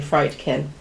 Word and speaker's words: Friedkin: William friedkin that's why I think he you pronounce it CU it's literally friedkin um from a screenplay by William Peter blatty